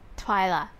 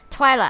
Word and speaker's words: Twila: promise you won't trip twia sorry I've been pronouncing her name her name wrong Twila I yes if you